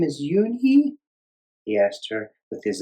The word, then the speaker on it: Unhei: "Yes, it's pronounced Yoonhei." "And it means grace," Mr. Kim added. "Yoonhei," Joey said slowly, and this time perfectly.